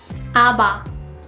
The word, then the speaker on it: 아바: Compare these two ones. 파, 아바. 파, 아바. 파, 아바. 파, 아바. If you think it is difficult, just think of how you would pronounce pin or spin in English.